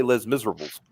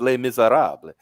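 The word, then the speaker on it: Les Misérables: He said it's like that play Les Miserables. Oh, No, it's pronounced Les Miserables.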